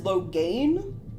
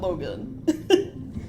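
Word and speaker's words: Loghain: no no no see that is loan not Logan his name is pronouncedly different spell weird also you can un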